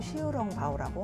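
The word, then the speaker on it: 小笼包: 그리고 광동어 발음으로 시우롱바오라고 하고요. 우리에게 친숙한 발음은 샤오롱바오죠. 이건 대만 딘타이펑 샤오롱바오가 유명해져서 그래요. 대만과 중국 본토에서는 샤오롱바오라고 부르거든요.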